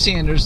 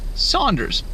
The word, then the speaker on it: Sanders: name was probably pronounced Saunders, even though it was spelled S-A-N. When James Saunders was alive, his name was probably pronounced as if it's S-A-U.